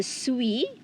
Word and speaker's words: suis: So you have here, je suis. Okay, the S is silent. The S at the end is silent.